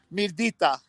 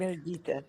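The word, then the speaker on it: Mirëdita: Hey, Mirdita. Say again. Mirdita. Yeah, it's like Mirdita.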